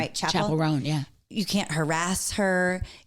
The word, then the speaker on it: Chappell Roan: Chappell Roan, yeah.